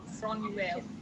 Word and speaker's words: Gráinne: Is it Gráinne? Yes, Gráinne.